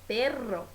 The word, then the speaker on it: perro: Agora, cachorro, que é perro, se escreve com dois R's e se vibra ainda mais a língua.